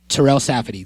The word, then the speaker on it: Terell Safadi: And that person is Terell Safadi.